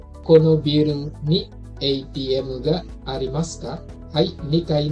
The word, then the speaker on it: ATM: ATM dibacanya seperti bahasa Inggris ya, ATM.